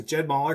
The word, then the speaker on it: Jed Moller: your current handicap so good question yeah so Jed mer great job on the pronunciation most people don't get that nailed it